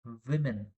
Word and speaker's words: women: Actually it is pronounced as see you have to observe here w M is pronounced who sound woman whereas plural of this w m women v sound comes not who sound women singular women is plural two